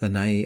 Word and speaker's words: Lana’i: We were in Hawaii, Lana’i (pronounced LAH nah ee) island, just outside Lana’i city, facing south.